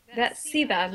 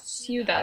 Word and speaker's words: cidade: Da cidade, not ciudad. Ah, da cidade.